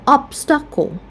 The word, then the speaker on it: obstacle: That's why we stress on the first syllable. Or obstacle.